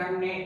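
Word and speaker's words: ح: इसे आपको यहाँ से हलक से यहाँ से प्रोनाउंस करना है, ठीक है। प्रोनाउंसिएट ऐसे करना है, हा, हा, हा।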